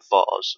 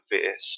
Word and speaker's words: vase: you how to make a vase or a vase, depending on how you say it.